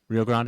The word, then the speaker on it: Rio Grande: How do they say it? Do they they say it like Texans or do they say it properly? Rio Grande.